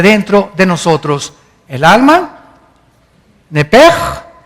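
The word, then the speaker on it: נפש: Esa palabra alma es la palabra hebrea Nepesh, así como suena, N-E-P-E-S-H, Nepesh. La letra o las letras S-H en el hebreo se pronuncian en hebreo como J.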